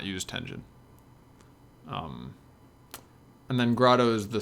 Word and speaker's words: Tengen: Tengen, which stands for Tinker Engine, but I just pronounce it Tengen, is the parts of the engine that are specific to a game.